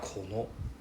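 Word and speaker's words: この: Okay, it's not really like kono or kono, it's more like kono. Right, we go down first.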